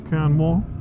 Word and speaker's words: Quernmore: trough of bowling down towards canmore or quernmore how we pronounce it so i've uh just